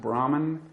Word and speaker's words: Brahman: And what about the concept of, is it pronounced Brahman? Or yeah, that's an English way of saying it, but that's okay.